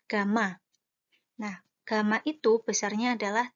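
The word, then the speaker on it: gamma: dengan kayak huruf yaitu tapi dibacanya adalah Gama nah Gama itu besarnya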